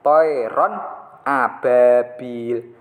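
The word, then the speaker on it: طَيْرًا أَبَابِيلَ: Harus dibaca jelas, tidak mendengung. Jadi cara bacanya, kalau ini contohnya masih kepotong, nanti bisa dilanjutkan. Toiron ababil. Toiron ababil.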